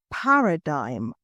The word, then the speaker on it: paradigm: for today is a paradigm careful of the pronunciation Paradigm you don't really hear the G so a paradigm shift